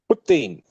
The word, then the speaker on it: poutine: Poutine, how you say it? Putin. Yeah, Putin, yeah. that, yeah, that.